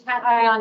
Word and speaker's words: cation: How do you say that? It's cation exchange.